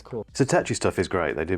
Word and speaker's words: Satechi: So this is a battery by Satechi. How do you pronounce it? Satechi.